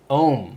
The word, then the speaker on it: Aum: Aum or Aum or how do you say it? Ohm? Ohm.